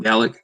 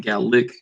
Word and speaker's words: Gallic: One of the characters in my book, I call him Gallic. A lot of times it's like Gallic, so with like an I or E sound, but it's actually spelled